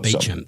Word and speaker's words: Beauchamp: There's a road in my suburb which is called Beecham Road, but of course it's spelt Beauchamp. Yeah, right. But it's pronounced Beecham.